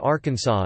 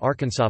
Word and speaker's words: Arkansas: It should be pronounced in three syllables, with the final S silent, the A in each